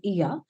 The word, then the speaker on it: Oia: from the town of EA so they they write it as oia but they pronounce it as EA and if you really